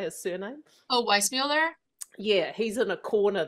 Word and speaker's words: Weissmuller: Oh, Weissmuller?